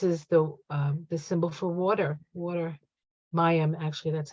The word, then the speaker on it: Mayim: Mayim, actually, that's how you say it.